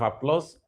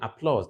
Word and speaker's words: applause: that step Round of Applause for all of you Applause not Applause right applause applause not